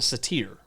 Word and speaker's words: satyr: Is it satyr or is it satyr? It is actually pronounced satyr. Interesting.